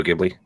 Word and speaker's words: Ghibli: news, which is the passing of I can't pronounce his name. Takahata. Iso Takahata, the co-founder of Studio Ghibli.